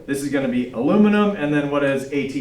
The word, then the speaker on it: aluminium: applied chemistry says that it's actually supposed to be aluminium which sounds awesome with an English accent but terrible out of